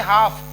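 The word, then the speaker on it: half: ऐसे हाफ, एफ के पहले आएगा तो भी एल साइलेंट रहेगा।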